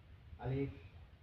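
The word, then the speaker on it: ألف: একটি হরফে পরিণত হয়েছে আমি এখন এই হরফটির নাম বলবো আলিফ আলিফ আলিফ আপনি দেখছেন যে আমি কিভাবে এই নাম উচ্চারণ করে নাম বলেছি যে আমি আলিফ বলার সময় আমি উপরের দাগ নিচের ঠোঁটের সঙ্গে লাগিয়ে কোন বাতাস বের করে আলিফ বলছি আমার সাথে আপনারা বলতে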